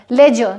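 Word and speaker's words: ledger: Bridge हो गया, लेजर जिसे बही खाता कहते हैं, इन सब वर्ड्स में डी का प्रोनाउंसिएशन नहीं होता है।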